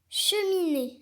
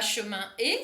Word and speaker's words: cheminée: Cheminée. Est-ce que tu entoures? Non. Non, c'est pas chemin et, c'est cheminée. Attention, quand on a une voyelle après le N, souvent il faut prononcer in et pas un.